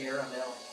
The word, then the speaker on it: caramel: With the caramel, 3 syllables is the most word origin French. Caramel, 2 syllables, both a common, mostly in North America, West, and Midwest.